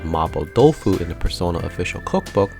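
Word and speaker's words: 麻婆豆腐: So when I saw a recipe called Mabo Dofu in the Persona official cookbook, I was a little confused. It turns out that's simply how the name is pronounced in Japan, a slight change as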